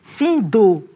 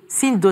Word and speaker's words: Sindo: association, qui veut dire, j'aime bien quand vous le prononcez, mais c'est pas tout à fait ça, c'est Sindo. Sindo, ça veut dire à la base, depuis la base pour émerger.